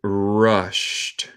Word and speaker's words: rushed: And rushed at the stick. And rushed at the stick. Nota mi pronunciación. El ed suena como T en este caso.